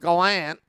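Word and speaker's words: Gallant: proven this year that Galant that's how he wants us to pronounce his last name knuckle on but Galant he is a kind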